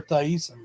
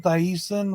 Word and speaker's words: Thiessen: Thiessen, whatever. It's just decent. Tiffany Amber That's how it's Thiessen. spelled. It's spelled Thie. Yeah, but still decent. Thiessen.